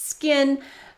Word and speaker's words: SKKN: So recently, Kim Kardashian was contacted by another skincare brand after she attempted to register the trademark SKKN, I guess that's supposed to be pronounced skin, for cosmetics, for face creams and stuff like that.